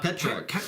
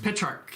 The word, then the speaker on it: Petrarch: How do you pronounce his name? Petrarch. Petrarch, yeah.